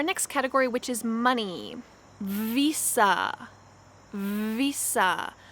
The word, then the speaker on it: Visa: category which is money visa visa make sure that your lips vibrate when you say this v visa master card master card